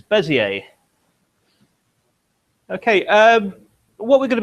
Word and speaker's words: Bézier: I think it is meant to be pronounced Bézier, but I'm not a French speaker, so I'm going to refer to it as Bezier.